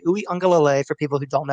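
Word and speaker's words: Uiagalelei: enough for dj uyongalole that's how you say his name dj ooey unga lay for people who don't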